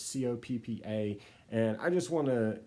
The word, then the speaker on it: COPPA: you pronounce that it's Co PPA and I just want to give you my definitive way to pronounce that so it's pronounced Coppa as in get to the cop house no one done this